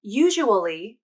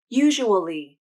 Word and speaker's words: usually: pronunciation a little tricky the first way to pronounce these words is to say each syllable just like the words are written usual can be three syllables usual usual usual and usually can be four syllables usually usually usually the second